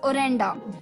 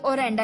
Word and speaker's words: orenda: तो दोस्तों 6th वर्ड फॉर the evening was ओरेंडा, ORENDA, ओरेंडा, यानी कि invisible magic power believed by people to प्रिवेड ऑल इन all natural objects as a spiritual energy.